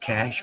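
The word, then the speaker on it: Cache: Dagot a cash cap pronounced cash Morgan Sevier San Pete Sevier Pyute Sevier Rich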